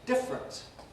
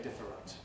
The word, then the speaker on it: different: common words you see normally compressed different we don't usually say different we say different general you heard me